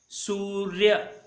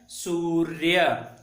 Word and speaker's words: सूर्य: सूर्य अर्य ऐसे उच्चारण होता है। तो आधा र जो है य में मिल जाता है, पूरा य में तो र्य हो जाता है सूर्य। इस प्रकार जो है इसका उच्चारण हो जाता है। यह है सूर्य। सूर्य र्य र्य ऐसे आता है सूर्य।